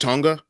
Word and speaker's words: Tonga: the only thing like how am i pronouncing that because i say just tonga yeah okay now i